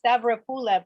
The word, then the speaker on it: Stavropoulos: Stavropoulos is so much more, musical. I'm going to respectfully correct the accent. It's Stavropoulos, but you're really close.